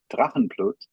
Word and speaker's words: Drachenblut: So you pronounce it Drachenblut, but just call me or say, which is the US, version of that.